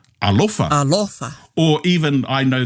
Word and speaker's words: alofa: Hoeno, I'm going to take a wild guess and assume it's alofa. I want to say fa. Alofa. Alofa.